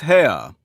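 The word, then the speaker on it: Haigha: happy his name is ha he pronounced it so as to rhyme with mayor I love my love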